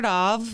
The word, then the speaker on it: Dov: Dr. Dov rhymes with suave.